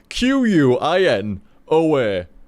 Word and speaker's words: quinoa: happy that it's pronounced quinoa it's dumb it's that be a q q u i n o a quinoa no K why what do you mean why that's how Q's pronounced no it's not no no quinoa English it's dumbb man there's no reason that why that cat be just quinoa you know